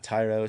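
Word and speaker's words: Thairo: Uh Thyro Strato, is it Thyro or Tyro? You know if it's Yeah, Tyro Strada.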